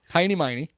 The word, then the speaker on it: Heinie: Heiny Wagner was probably Honus Hiney. It's spelled H E I N I E M E I N E.